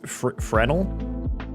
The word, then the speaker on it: Fresno: How do you say Fresno? I didn't know the S was silent for the longest time. Are you serious? So, it's frenal.